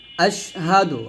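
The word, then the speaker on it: أشهد: যতবার আজানে বলবে ততবার আপনারা বলবেন তারপর হচ্ছে আশহাদু হামজা সিন জবর আশহা জবর হা আশহাদ আল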